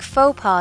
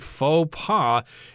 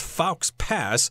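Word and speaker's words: faux pas: tipping is a big faux paw in Japan this term is not pronounced fal's pass it looks like that but this is from French it's from French okay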